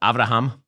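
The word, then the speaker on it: אברהם: What he's trying to do here, by the way, is that in Hebrew, Abraham is pronounced Avraham.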